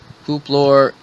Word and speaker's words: Hooplor: Like I said, the title on the other video was QUPLOR space ZECK space VLOZ space FUAG, and the pronunciation is Hooplor Zek Vloz Vlog, and that's why I put as the title.